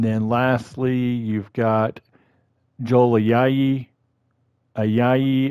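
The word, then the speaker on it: Ayayi: lastly you've got joely ayahi is how you pronounce it like i and then yay he's added to the washington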